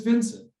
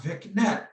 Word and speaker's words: Vincent: a couple podcasts ago my name is vincent not vic net i don't know who